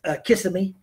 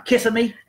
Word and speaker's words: Kissimmee: And the way that's spelled and the way us rednecks like to say it, which seems a lot more personable to me, is Kissimmee. That sounds a lot better.